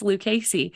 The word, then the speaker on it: Lucchese: I couldn't figure it out, but it's Lucchese.